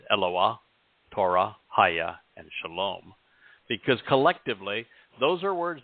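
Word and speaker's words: שלום: frequently than Torah mhm the o sound in Shalom comes from well the wall even Israel that's the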